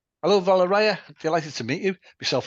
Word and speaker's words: Valeriya: No, it's Valeriya. The correct Ah, way is Valeria. So the stress on the second syllabus.